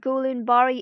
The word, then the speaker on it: Guillain-Barré: An ascending paralysis resembling Guillain-Barré syndrome. It is called Guillain-Barré in English, but it is pronounced as Guillain-Barré in French.